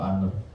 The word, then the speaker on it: honor: kalau tulis ada ususan honor ya honor bacanya tuh aner nah aner ini itu